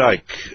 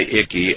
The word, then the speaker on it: Icke: they called me um Ike um they called you yeah I mean that you don't pronounce the c um actually funny enough